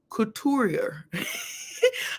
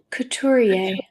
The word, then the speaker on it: couturier: Don't wait, educate, because the word of the day is couturier.